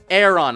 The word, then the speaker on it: Aron: want to start training Aeron a little bit yes it's called Aeron not Aon on not Aon or Aaron as I called it there's a lot of